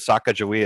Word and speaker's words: Sacagawea: Sacagawea is how you commonly hear her name pronounced, but amongst the people in that region, they also pronounce it Sakakawea.